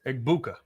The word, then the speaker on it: Egbuka: Okay, now how do you pronounce his name? Egbuka.